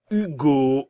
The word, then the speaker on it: Hugo: pronuncia I, U, Lucas, Hugo, encore une fois le U français, Théo, Clément, le T